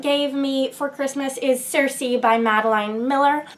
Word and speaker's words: Circe: I hesitate a bit on that pronunciation because that's the pronunciation that most people seem to be using for this book, but prior to the release of this book, I had believed that this character's name was pronounced Kirke, or maybe Kirki.